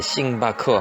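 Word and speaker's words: 星巴克: 그리고 벅스는 그 발음을 그 이제 음역을 해서 벅스인데, 벅스 스펠링에 이제 K가 있는데 우리는 그냥 벅스 하는데, 얘네들은 그 K를 살린 것 같아요. 버크스, 바커 해가지고 바커. 그래서 합쳐서 이제 싱바커 하고요.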